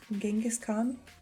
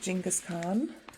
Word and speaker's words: Genghis Khan: for him i think you pronounce it with the g and genghis genghis khan genghis khan i wasn't